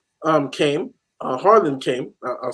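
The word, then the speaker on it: Haaland: will want them personable mother and before a Holland um came Harlan came I'll say it correctly uh you know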